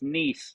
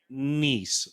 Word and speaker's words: Nies: It's niece, like your niece and your nephew. Perfect. Eric Nice.